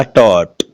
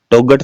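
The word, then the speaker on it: taught: इसमें देखिएगा टॉट, टोगट तो नहीं बोलते। क्यों नहीं बोलते? क्योंकि इसमें जीएच है, वो साइलेंट है, बोलते हैं टॉट।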